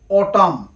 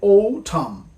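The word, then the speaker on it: autumn: হচ্ছে অক্টোবা আমরা বলে থাকি অটাম কিন্তু এটার সঠিক উচ্চারণ হচ্ছে ঔটাম আমরা বলে থাকি ওয়েটনেসডে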